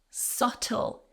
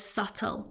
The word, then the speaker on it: subtle: So again, another super easy rule for you to remember about silent letters. And our final word. The hint was subtle, silent B. The hint was subtle.